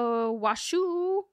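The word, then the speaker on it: Washoe: anywhere yeah so on March 18 2008 uh washu that's how it said that's how it's spelled washu washu County jury delivered a 590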